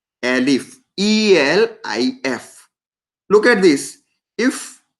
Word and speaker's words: elif: remember, you need to pronounce it like elif now onwards. Combination of else and if together. You need to call it as a elif.